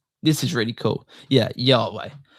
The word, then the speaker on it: Yahweh: So again, it's just YHWH, which is interesting because when you actually like pronounce that, yeah, it sounds like the exhaling and the inhaling of breath, which is life.